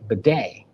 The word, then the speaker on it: Badie: my headphones and I hear Tim Brando say but day I'm like where on Earth did they come